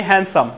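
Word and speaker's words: handsome: আমরা একটা শব্দ বলি হ্যান্ডসাম কি বলি বলি তো হ্যান্ডসাম এটাকে আমরা বলি হ্যান্ডসাম কি তাই নয় কি এখানেও বর্ণবিলোপের নীতিটা ইয়ে করব কার্যকর করব আমরা আমরা বলবো হ্যান্ডসাম হ্যান্ডসাম অনুচারিত থাকবে তাহলে শব্দগুলো আমরা হচ্ছে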